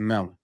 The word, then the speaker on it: Melin: So shout out to Melon.